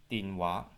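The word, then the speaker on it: 電話: Aber auf Kantonesisch muss man nicht die japanische Aussprache Denwa sagen, sondern schlägt man die entsprechende kantonesische Aussprache jedes Zeichens nach und sagt Dinwa.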